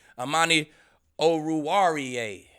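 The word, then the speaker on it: Amani Oruwariye: do man he came back strapping then uh amani oh ruariya that's how you say it man you're gonna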